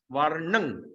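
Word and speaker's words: वर्णं: Varnang. Okay, there's a M, that's dot, we're going to pronounce. So Varnang.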